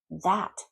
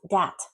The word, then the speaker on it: that: This, that, not dat. Dat.